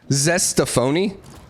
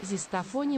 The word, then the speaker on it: Zestafoni: Zestafoni municipality. Zestafoni. Dude, that's awesome. That is my new favorite town in the world. Zestafoni. It's like rigatoni, but it's Zestafoni. It's like zesty rigatoni.